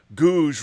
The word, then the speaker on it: Gouge: FYI, Gouge rhymes with rouge.